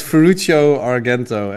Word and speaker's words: Ferruccio Argento: So yeah, it's Ferruccio Argento. And so for anyone listening, then they already know how to pronounce my ridiculously complicated Italian name.